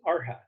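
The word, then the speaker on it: arhat: in the mystery schools is r hat it's spelled a-r-h-a-t that's the traditional term and the r-hat is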